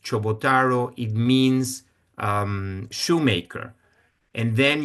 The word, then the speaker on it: Ciobotaro: I'm talking about my grandfather part, the one you're seeing here in pink, because the last name Ciobotaro, which is actually pronounced Chobotaro, it means shoemaker.